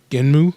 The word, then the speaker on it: Gunnm: Its original name is it's spelled Gunnm, so Genmu, yeah, and it's translated